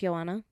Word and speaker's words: Johanna: always come on now even in my name Johanna did you know my name's pronounced Joanna yes you didn't know